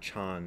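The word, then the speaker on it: 禪: single chinese character which is pronounced zan in japan son in korea and chan in in mandarin chinese so the the one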